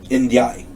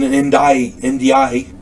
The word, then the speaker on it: Ndiaye: Frank Fontaine, Jean-Pierre Prévost, P-R-E-V-O-S-T, Prévost, and Solomon Ndiaye, N-D-I-A-Y-E, Ndiaye. I'm going to say it's Ndiaye.